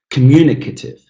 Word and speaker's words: communicative: Number 6, communicative, communicative, communicative. Now, again, 5 syllables, but the third one is stressed.